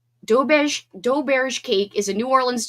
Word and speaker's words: Doberge: Orleans type of cake called dough bash cake, but it's spelled like doberge.